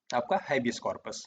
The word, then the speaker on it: habeas corpus: सबसे पहले, आइए हेबियस कॉर्पस को समझते हैं। ठीक है? इसे कई जगहों पर 'हैबियोस कॉर्पस' भी कहा जाता है। क्योंकि यह एक लैटिन शब्द है, इसलिए इसके उच्चारण में थोड़ा अंतर है।